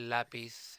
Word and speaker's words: lápiz: Now notice here that my accent was on the second to the last syllable and not on the last syllable, not on pith, but instead in la. When we make lápiz plural, you keep the accent. It is now falling on the la, just as it did before.